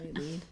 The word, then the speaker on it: LEED: like LEED and, or is it, do you pronounce it LEED? I think, yeah, And- LED. Yeah, LEED.